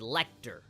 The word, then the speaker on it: Lecter: But I know that it's not Letcher, it's Lecter. I know that you pronounce it as Lecter, but it just sounds Letcher.